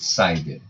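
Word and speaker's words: CIDR: parêntese vamos falar de Class interdomain hoing pronuncia-se Sider conhecido também como supernetting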